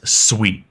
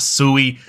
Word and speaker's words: Sui: Sweet It Is Not sui I've been corrected multiple times so if you want to be on the better half of The Suite Community just pronounce it sweet now the project itself